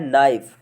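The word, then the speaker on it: knife: अब ऐसे ही फ्रेंड्स दूसरा है, दूसरे में फ्रेंड्स लिखा है नाइफ। नाइफ में फ्रेंड्स के साइलेंट है।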